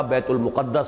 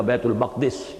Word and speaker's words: بیت المقدس: جن کا مرکز بنا بیت المقدس یا بیت المقدس، یہ دونوں اس کے تلفظ ہیں، دوسری شاخ بنی اسماعیل